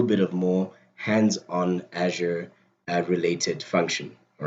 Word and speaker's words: Azure: Like, so the way that the Americans say it is Azure. The way that we say it in South Africa when we see that word is Azure.